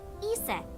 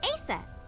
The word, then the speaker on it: Isis: Egyptian mythology too oh horse's mom is named Isis but in ancient Egyptian it's pronounced closer to ISA or ASA how do I explain this creepy Uncle no